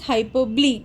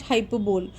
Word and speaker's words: hyperbole: started so hyperbole so the pronunciation is hyperbole and not hyperbole so it has three